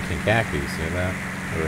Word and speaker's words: Kankakee: Greater Kankakee Unicom, Beach 1842 Charlie.